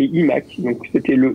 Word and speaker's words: iMac: Alors qu'on doit prononcer iMac en anglais. Donc on est censé dire iMac et iMac.